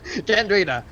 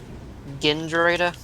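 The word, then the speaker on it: Gandrayda: Yes, Gandrita, I am the ship. Remember how Connor mispronounced Kendrita? What'd he say again? I'm trying to remember it. He spelled Gen instead of Gan. Yes. Gendrita?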